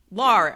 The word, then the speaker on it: Lahr: So Lahr, as he pointed out, rhymes with bar.